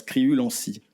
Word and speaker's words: Criulanscy: Non, ça se prononce Criulancy.